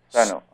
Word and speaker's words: Sano: Sano. I'm very bad in pronunciation.